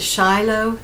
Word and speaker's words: Shyloh: boots by Durango, and this is the Shiloh Caramel, and it's spelled s h y l o h, and this is in